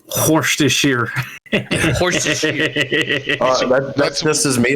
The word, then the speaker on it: Worcestershire: Worcestershire. Stress on the first syllable. Worcestershire. Yeah, only 3 syllable.